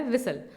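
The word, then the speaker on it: whistle: Sound नहीं आती है उसे कहा जाता है साइलेंट लेटर। तो आपके सामने वर्ड दे रखा है विसल।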